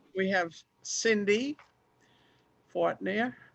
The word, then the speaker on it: Fortner: We have Cindy Fortner. How do you pronounce that? Fortner? Fortner. It's fine. Oh, Fortner. Fortner. Okay, and where'd my no ink lady go?